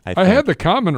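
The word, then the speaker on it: Khaman: K H A M A N. Common. Yeah, I can see that. Looks like shaman. Common. Okay. M A L U A C H. I think I had the common right.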